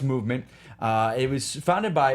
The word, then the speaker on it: MVMT: of cool plan words it's mvmt but it's pronounced movement it was founded by